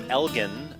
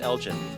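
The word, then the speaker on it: Elgin: good we're now in the town of Elgen spelled e-g i n not pronounced elen Elgen Texas Southside Market since 1882 they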